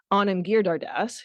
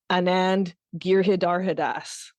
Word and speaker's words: Anand Giridharadas: And when I do that, I can have faith that the next time I go to say Anand Giridharadas, who's like this great writer in the States, who I asked and he sent me his name drop.